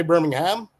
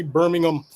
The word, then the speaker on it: Birmingham: That's how they pronounce it. Americans say Birmingham. In England, they say Birmingham.